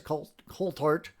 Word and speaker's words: Coulthart: Coulthart. I can never say it right. I think it's with a hard T.